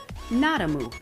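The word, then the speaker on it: Nadamoo: n-a-d-a-m-o-o exclamation point and the name of the brand literally translates to the fact that it has no dairy in it like nada no moo would be a cow so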